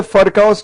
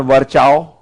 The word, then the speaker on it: Virchow: I hope you know that this is F, not V, and it is not Virchow. It is pronounced F. You're going to the US, you can't call it Fur. You have to call it Fur, not Ver.